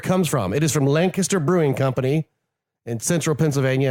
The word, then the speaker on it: Lancaster: And it's not Lancaster, it's Lancaster. Gross. You got to say it right. I still say Lancaster. It's Lancaster. Because there's no G in it.